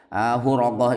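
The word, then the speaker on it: الحرقة: Huraqah itu bacanya adalah ha dibaca dhammah tanpa titik dan ra dibaca fathah, sudah diterangkan itu Huraqah di awal kitab.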